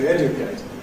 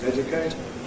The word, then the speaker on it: educate: Notice a word like what the Americans call ‘educate’ /ˈeʤəkeɪt/. I think I normally say /ˈedjʊkeɪt/ at least in more careful speech. But this is characterized by having /dj/, not /ʤ/ and having more /ˈedjʊkeɪt/. But things are changing. I certainly have a casual speech variant, which is /ˈeʤʊkeɪt/.